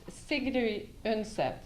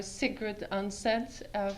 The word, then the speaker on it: Sigrid Undset: Her name is pronounced Sigrid Undset in Norwegian. I will call her Sigrid Undset for the purposes of our conversation today.